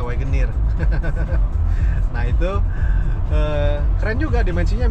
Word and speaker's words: Wagoneer: Wagoner apa Wagoneer bacanya? Wagoner kali ya, orang Indo mah. W dia Wagoneer.